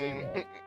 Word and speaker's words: JR0G: JR0G, pronounced Jaw, was a side channel